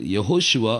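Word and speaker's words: Yehoshua: ஸோ இது வந்து யெகோஷுவா அப்படின்னு தான் உச்சரிக்கணுமே ஒழிய யாஹூஷுவாவோ யாஷுவாவோ இல்லாட்டி யெஷுவாவோ அப்படி உச்சரிக்கக்கூடாது. ஏசப்பா பேர், எப்ரே பேர் வந்து யெகோஷுவா.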